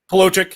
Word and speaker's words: Palochik: Did I pronounce that right? Palochik? Palochik.